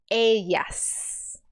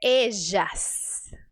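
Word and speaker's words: ellas: disso pronuncie isso comigo caminar entre eas se você escolheu o i caminar entre ejas se você escolheu o J caminar entre edas se você escolheu o DJ e a última caminar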